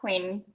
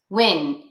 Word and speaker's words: Huynh: It's pronounced Huynh. Huynh. Huynh? Yes. Huynh. Yes, so pardon? No, go ahead. So Huynh, but so it's like Huynh, but with a H in front.